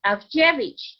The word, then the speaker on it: Avjevich: And I go, well, look at my name. I have D-Z-I-E-W in the very smack middle of my name. And so the V for the W, it's Avjevich. And if you say Avjevich, anybody who knows Ada and has said Dziewanoski or Dziewanoska can say my name.